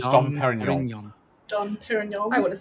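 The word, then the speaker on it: Dom Pérignon: Don Perignon. Don Perignon. It's Dom Perignon.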